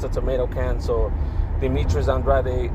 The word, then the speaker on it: Andrade: So Demetrius Andrade uh Andre, I don't know why they call him Andre. In Spanish it's Andrade.